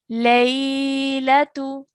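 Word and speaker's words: لَيْلَةُ: So we're going to pronounce this as lay. Lay. Good. Latu. Latu. Good. Laylatu.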